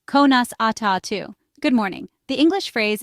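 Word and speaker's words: Conas atá tú: The English phrase is how are you and the Irish translation is konas atu pronounced konas atu good morning.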